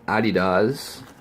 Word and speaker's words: adidas: Hang tag with sizes adidas Originals or a DDoS if you want to pronounce it phonetically correct list of materials and